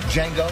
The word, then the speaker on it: Django: Django. D is silent.